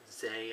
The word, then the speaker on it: Zae: Used Zay, I think that's how you pronounce it, Z-A-E.